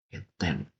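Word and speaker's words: 欠点: Ini bacanya apa? Bacanya Keten. Keten.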